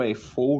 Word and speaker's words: UFO: Tem bandas como o UFO ou o UFO, né? A, a pronúncia certa do nome dos caras, mas eu prefiro falar UFO na nossa língua mesmo aqui, que é uma banda